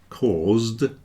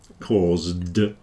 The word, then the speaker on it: caused: on it cause then the S is pronounced more like a zed it's a voed consonant and because of that the D then sounds like a d caused yeah and cost well